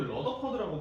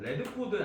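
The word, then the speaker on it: Radford: 그래서 레드포드, 자꾸 러더퍼드라고 발음을 해가지고 레드포드 아저씨랑 그다음에 누구더라?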